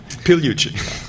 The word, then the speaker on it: Pigliucci: Joe Nickell and Massimo Pigliucci. Close, Pigliucci. I have a vowel in the end of my last name too, but you know. The G is silent, right? That's right. As in yeah. Modigliani.